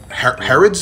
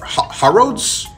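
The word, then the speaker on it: Harrods: big British store called herods or hars herods I think it's the way British people pronounce hair rod but anyway this video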